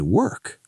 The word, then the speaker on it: work: They see the letters OR and say or. Like door? Exactly, but that's wrong. So what's the correct sound? It's the sound, like in her.